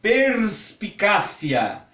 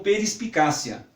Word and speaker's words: perspicácia: Porque aqui tem um R, um S e um P na sequência. E não é muito comum para o nosso aparelho fonador pronunciar palavras que tenham tantas consoantes sem ter uma vogal de apoio. É muito provável que, se nós falarmos isso um pouco mais devagar, vai acabar saindo como perispicácia.